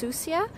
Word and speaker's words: Sucia: to an island called susha Island it's actually a Spanish word and it's pronounced susia and it means dirty